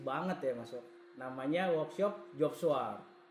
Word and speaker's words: Joop Swart: Ini adalah workshop yang benar-benar kalau di fotografi bergengsi banget ya Mas, namanya workshop Job Swart. Job Swart. Itu agak-agak Belanda tuh ya.